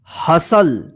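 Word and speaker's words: hustle: चलिए आगे देखते हैं हसल एच यू एस टी एल ई हसल देखिए य पे तो यहां पर जो है ना टी साइलेंट रहेगा हसल का मतलब होता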